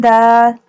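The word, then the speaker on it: دال: Dal pronounced from the tip of the tongue touching the roots of the top two front teeth. Ba, ain, dal.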